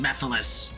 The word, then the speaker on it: Mephiles: you idiot oh Mephiles it's pronounced Mephiles oh I will de uh yeah no rings